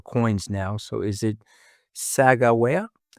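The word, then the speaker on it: Sacagawea: So is it Saga? It's actually pronounced a lot of different ways. I say Saka Jia, but but there are lots of valid ways to say Sak Jia.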